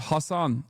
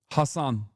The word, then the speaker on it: Hasan: How do you pronounce it? I already told you it's Hassan, but it doesn't matter. Hassan.